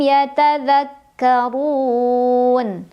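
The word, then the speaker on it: يتذكرون: La'allahum yatadzakkarun. Ra-nya dibunyikan secara tafkhim karena ra berbaris dan barisnya dhammah. Maka bacanya tebal, dibunyikan dengan cara mengangkat pangkal lidah kita.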